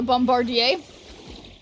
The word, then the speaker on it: Bombardier: We pronounce every vowel and the last R is silent. So let me try to see. Bombardier. So bombardier.